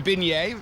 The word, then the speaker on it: beignet: But a beignet, I think I said it right, Yep.